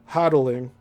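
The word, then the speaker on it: Hotelling: This plane had left Dylan, South Carolina with George Hodddling, that's spelled H O T E L L I N G, a pilot of considerable experience.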